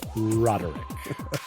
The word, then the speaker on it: Roderick: Anyone knows how my name is pronounced because it's right there, Roderick. Listeners, as ever, we speak